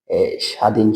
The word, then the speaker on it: স্বাধীন: যেমন তুমি বলতে পারো স্বাধীন স্বাধীন শব্দটি। এ স্বাধীন শব্দটি দীর্ঘইকারটা সবসময় উচ্চারণের ক্ষেত্রে লিখতে গেলে গেলে তোমার দীর্ঘইকার লিখতে হবে কিন্তু উচ্চারণের ক্ষেত্রে তোমার এটা রসীকার হয়ে যাবে।